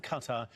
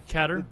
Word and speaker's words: Qatar: Issue, and also called on Israel Qatar, I think it's pronounced officially Qatar.